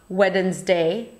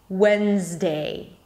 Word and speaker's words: Wednesday: It is not Wednesday, but when, as in when was the party. A Z sound again, and day, Wednesday.